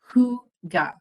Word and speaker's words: hygge: A lot of people say, is it Hygge or Hygge? But really, it's considered to be very simple. It's Hygge. So Hygge is truly the proper way to say it.